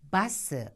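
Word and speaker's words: バス: 자, 여기서 발음에 유의하셔 할 것이 있는데 버스를 발음할 때 우리는 버스, 버스 이런 식으로 얘기를 하지만 일본에서는 버라는 발음이 없기 때문에 버라고 발음하지 않고 반드시 마 해서 바스 이렇게 발음을 해야 되고 그다음에 보트라는 거 있잖아요.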